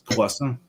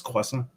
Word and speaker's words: croissant: It's croissant. One more time. You don't pronounce the T. It's croissant.